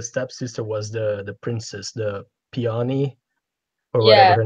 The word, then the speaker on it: Peony: Peony? Peony, yeah.